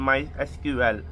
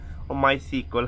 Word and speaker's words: MySQL: more a PHP and my SQL my sequel however engine up or no I just pronounced at my sequel or I can pronounce in MySQL even I get the